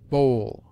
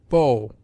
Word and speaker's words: bow: long as in Soul Bowl so grow these different sounds are used to distinguish different significations as bow an instrument for shooting bow a depression of the head sa the she of